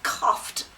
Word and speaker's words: coughed: Or he coughed.